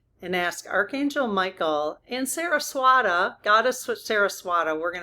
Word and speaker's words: Saraswati: Okay, it actually looks like it's Saru instead of Sarah. That figures. Okay, so Saruswati is how you pronounce it. Saruswati.